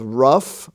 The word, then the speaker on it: rough: we find out that the f sound can also be spelled gh as in such words as rough r-o-u-g-h or cough c-o-u-g-h laugh l-a-u-g-h laughter with the g-h spelling